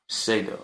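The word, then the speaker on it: Ceddo: Some people do, Spell that? C-E-D-D-O. C-E-D-D-O. C-E-D-E-O. Okay. No, C-E-D for David, D for David, O. Shado. Oh, Shado.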